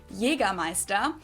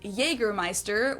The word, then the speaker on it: Jägermeister: Jagger Meister. English speakers usually say Jägermeister, which is pretty much the same just with a pretty thick accent.